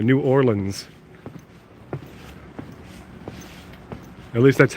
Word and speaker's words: New Orleans: up it's actually pronounced new or lens like like the lens of a camera New Orleans at least that's how